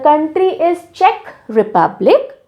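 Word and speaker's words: Czech: हैं the country is check Republic how डू we pronounce it check जैसे check होता है ना ऐसी तरह से प्रोनाउंस किया जाता है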